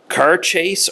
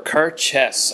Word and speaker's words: Cairdeas: So, this is Laphroaig Cairdeas or Cairdeas. I've seen it pronounced as both. It's in Gaelic, so the word does not translate in English at all.